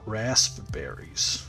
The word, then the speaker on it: raspberries: i think oh raspberries it's spelt raspberries but i say raspberries like r a z raspberries rasp raspberry okay okay